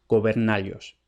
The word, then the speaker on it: gobernallos: Y de ahí vemos claramente que si tiene que rimar con vasallos y caballos, eso es porque se pronuncia gobernallos.